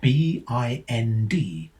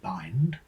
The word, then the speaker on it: bind: This could be blended to produce something either rhyming with lined, so bind, or with tinned, so bind. Now, if BIND had been offered as a pseudo word, either pronunciation would have been allowed. However, in our little thought experiment here, it is marked as a real word, so only the rhyme with lined, bind, would presumably be marked as correct. But spare a thought for the child who blends it to rhyme with tinned, so binned.